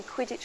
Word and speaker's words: Quidditch: words I think probably Quidditch because it rhymes with pitch you know it felt